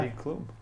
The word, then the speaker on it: Heidi Klum: Rhymes with boom boom. Yeah. Heidi Klum.